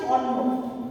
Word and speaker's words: অন্ন: এরপর অয়ের বিকৃত উচ্চারণ আছে, যেমন ধরো যখন বিকৃত উচ্চারণ হবে তখন সেটি ও এর মতো হয়ে যাবে। এখানে একটি শব্দ দেওয়া আছে অন্ন, অন্ন, অন্ন যখন আমরা